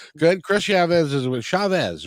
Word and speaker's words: Chavez: Chris Chavez is with Chavez, right?